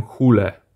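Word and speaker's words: Hole: głównym bohaterem komisarzem Harrym Hall A jak to niektórzy mówią Harry hule dla mnie to zawsze będzie Harry hall-a polecam sięgnąć jeśli nie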